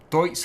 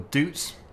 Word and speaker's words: Deutz: Well, Deutz or Dutz, however you want to pronounce it, Agrotron K420.